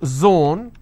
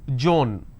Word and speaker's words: zone: For example, if I have the word zone, they pronounce this as Joan.